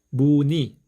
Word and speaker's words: 무늬: 마찬가지로 자음 니은과 의가 연결되어 있는데 니 발음하기가 어렵죠? 그래서 무니 이렇게 편리하게 발음하실 수 있습니다.